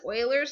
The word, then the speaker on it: Euler: number is called Euler now his name is actually spelt with an e okay so we call this wailers number because the man named